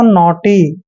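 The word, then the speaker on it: naughty: देखिए एन का उच्चारण हम न करते हैं, और AU का उच्चारण ओ करते हैं, ऐसे ओ। और देखिए टी से पहले जब भी GH आता है वहां पर GH साइलेंट होता है, TY को टी पढ़ना है, इस तरह से पढ़ेंगे इसको, नोटी, ठीक है, नोटी।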